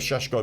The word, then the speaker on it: Šeško: It is Šeško. It's Šeško, that's how you Do pronounce you it.